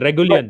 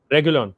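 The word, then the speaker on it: Reguilón: I forgot his pronunciation. Regulion. Regulon.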